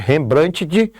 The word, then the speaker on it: Rembrandt: Ou você lê novamente, Rembrandt, mas a pronúncia é Rembrandt.